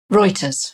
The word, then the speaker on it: Reuters: with listeners and this is a notes from router's is that how you say it how do you say the name of the agency Maya Reuters and it's about JPMorgan asking its managing directors